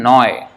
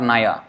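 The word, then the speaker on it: নয়: Shudro Kene Noy is not Naya. They will never say Naya. Noy.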